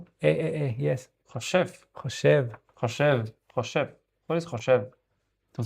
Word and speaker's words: חושב: Choshav. Yes. Choshev. Choshev. What is choshev? To think? Yes, thinking. אני חושב. I'm thinking. Yes. Choshev.